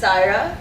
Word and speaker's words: Syerah: allow me to welcome sarah good evening everybody i actually see some familiar faces though we've got some thai institute alumni here as well um my name is pronounced saira so if you ever